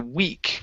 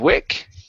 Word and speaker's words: weak: here this is okay the weak okay give me a good e sound here um instead of Wick okay the weak into